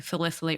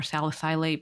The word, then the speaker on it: salicylate: There's so many types of plants that have, I won't call them toxins, but oxalates, and you can say salicylate or salicylate. People like to use either pronunciation, but it's just, we are highly sensitive people.